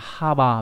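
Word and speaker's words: 幅: Âm cương đọc là ha bà.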